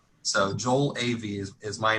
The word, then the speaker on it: Ewy: German but it's pronounced AV so like if you ever curious and confused it's like two letters an A and a B so Joel AV is my name and